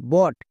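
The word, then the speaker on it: boat: বি, বি এর জন্য কি হয়? বো। নেক্সট ও এ, ও এ এটা হচ্ছে ভাওয়েল ব্লেন্ডিং ওয়ার্ড, এর জন্য সাউন্ড হয় ওকার, তাহলে কি হলো? বইয়ে ওকার। এবং টি, টি এর জন্য টো। এবার একসঙ্গে উচ্চারণ করো, বি ও এ টি, বট।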